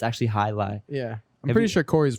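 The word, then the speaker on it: jai alai: jolly ali really yeah it's actually high lie but the way it's spelt is like j a i a l a i don't check me on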